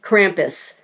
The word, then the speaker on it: Krampus: If you are not familiar with Krampus or in the United States here we pronounce it Krampus.